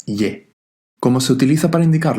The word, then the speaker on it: 의: Uy significa de y se refiere al posesivo, a la propiedad de algo. Aunque su pronunciación es uy, muchas veces escucharéis pero por lo general se pronuncia como ye.